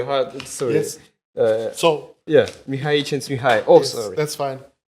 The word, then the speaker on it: Mihaly Csikszentmihalyi: So yeah, Mihaly Csikszentmihalyi.